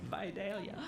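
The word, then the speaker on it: Vidalia: back to the beginning you were born in videlia Georgia so you're a Georgia boy I have to tell you okay the regional correct pronunciation v v v yes yes yes it's true yes viia I'm such a northerner that's just music to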